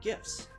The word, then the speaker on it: GIF: contextual clues things like emojis and memes and gifs yes it's pronounced gif and yes i will fight you